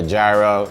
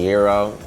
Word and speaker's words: gyro: bite that you take I've been calling it a gyro but I guess is called the gyro the G is silent and suppose there is